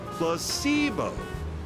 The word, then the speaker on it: placebo: today repeat after me plus sibo h the stress is on the middle syll very good